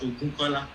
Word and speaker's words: Ogunkola: It seems you keep pronouncing my wrongly. It's Ogunkola, Ogunkola.